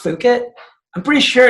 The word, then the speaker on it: Fukitt: One of the ways I do that with the brand, even though it's pronounced Fukitt, I'm pretty sure it's persuading you to say fuck it more, right?